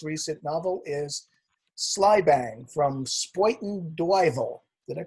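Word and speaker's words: Spuyten Duyvil: And most recent novel is Slybang from Spoiten Duyvel. Did I pronounce that correctly?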